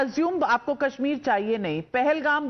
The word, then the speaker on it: Pahalgam: पहलगाम बोलना तो आता नहीं, पलग्राम बोल रहे हैं आप उसको.